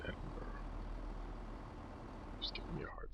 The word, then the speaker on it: Edinburgh: It is Edinburgh. It's Edinburgh. Just giving me a hard time about the pronunciation of Edinburgh.